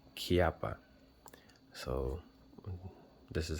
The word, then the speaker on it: Chiappa: what I found out people do pronounce this cha but the maker himself if you look him up he does pronounce this name kppa so this is how